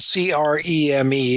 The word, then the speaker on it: Creme: Well, Benjamin Creme from London, spelled C-R-E-M-E. It looks like cream, but it's pronounced creme.